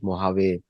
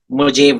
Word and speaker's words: Mojave: tested in California deserts, Mojave and Nevada deserts, mostly there. Or as we say in India, Mojave. Mojave. Mojave Desert. The J is not, J is silent in Spanish language.